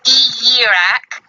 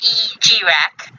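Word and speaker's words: Ijiraq: From what Wiki is saying it's pronounced E-Yirak, or E-G-Rak.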